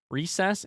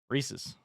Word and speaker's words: Reese's: Recess, except a short S on the end. Recess? Pieces? Reese's.